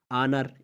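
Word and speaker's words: honour: और इसी तरह आनर, इज़्ज़त, आनर में भी आप देख सकते हैं कि ओ आया हुआ है तो इसमें भी खामोश है।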